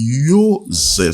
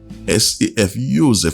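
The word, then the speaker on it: Yosef: la langue grecque là, on dit Joseph, ça s'écrit Y-O-S-E-F, Joseph, parce que la lettre J ou bien la lettre J, ça n'existait pas dans la langue grecque ou bien hébraïque.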